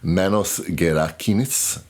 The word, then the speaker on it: Manos Gerakinis: Last time I mispronounced his name, Manos Gerakinis.